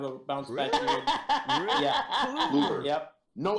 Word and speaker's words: Kluber: Kluber. Yep. No L. Yeah. Kluber. Kluber.